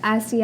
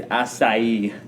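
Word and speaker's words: açaí: do enjoy is the Asi, however you pronounce that, refresher. Strawberry acai refresher. Oh, that's No, I I think I heard someone actually say it right. It's asai.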